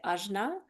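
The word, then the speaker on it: आज्ञा: There's two different ways that you can pronounce this. Depends on dialect and all that good stuff, but one way is ajna. So you can say ajna. The other way is more of like a nasally sound.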